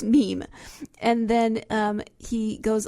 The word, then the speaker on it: meme: the French word me it should be pronounced to rhyme with cream so it's not Mimi it's Meme and then um he